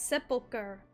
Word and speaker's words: sepulchre: Show me my father's sepulchre. It's sepulcher. Okay, that's how you're supposed to pronounce it.